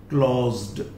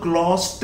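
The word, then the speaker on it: closed: जैसे क्लॉज, क्लॉज क्या बनाया क्लॉज्ड, अब इसको क्लॉस्ट नहीं कह सकते आप, क्लॉस्ट नहीं होगा, क्लॉज्ड क्लॉज्ड, तो ये इसका एक्सेप्शन आ गया।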